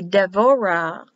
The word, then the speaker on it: Devorah: Without the dot, it's written as a B, but pronounced as a V. Like in Deborah, it'll be Devorah.